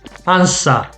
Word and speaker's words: answer: of the questions okay so this you don't read it okay ansa answer answer okay w is silent i couldn't answer any